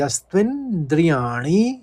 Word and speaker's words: यस्त्विन्द्रियाणि: पहले चरण में देखिए दो शब्द हैं, यस त्विन एक साथ बोल लीजिएगा और द्रियाणि दो शब्दों में बांट लेंगे तो आसानी रहेगी। यस्त्विन्द्रियाणि मनसा, आराम से पढ़ लिए, मनसा।